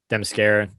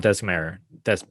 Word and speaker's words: Themyscira: I always mispronounce it. Themyscira.